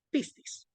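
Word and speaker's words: πίστις: otro otra otra diapositiva aquí esto es se pronuncia pistis p eso es ahora significa credibilidad convicción confianza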